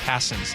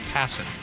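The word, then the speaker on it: Passan: Uh RB in the 360 said, "I'm mispronouncing Jeff Passen's name." Passing.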